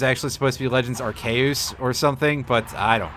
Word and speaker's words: Arceus: if they were just like one-offs for Legends Arceus or I I think the English pronunciation is actually supposed to be Legends archaeus or something but I don't care it's been